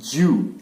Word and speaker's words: ewe: pronunciation কি হ'ব এইটো pronunciation EWE it's Jew যদি তোমালোকে চোৱা ইয়াৰ